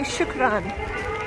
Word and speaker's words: shukran: The Arabic word for thank you, apparently shukran.